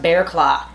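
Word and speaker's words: Barraclough: about him is that his name is basically pronounced bear claw i mean it's a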